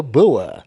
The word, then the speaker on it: Bua: so I am here with the beautiful bua hello hello hello all right did I pronounce that right cuz you know I just